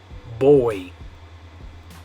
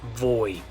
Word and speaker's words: voy: So you say boy, not voy. Boy. Yeah, it sounds like the English word boy, like a girl and a boy, right? But it's spelled with a V, boy.